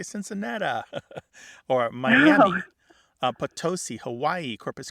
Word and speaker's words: Cincinnati: But what we really see here, it's not Missouri alone that is sometimes pronounced with that E becoming an There are other words that fall into this. Think of Cincinnati. Our Cincinnati college all going, yeah. Why do some people say Cincinnati?